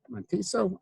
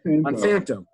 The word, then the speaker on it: Monsanto: Monteso, I forget how to pronounce that. Monsanto.